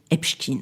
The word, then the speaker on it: Epstein: médias, tribunaux, enregistrement, archives, son nom est prononcé Epchkin.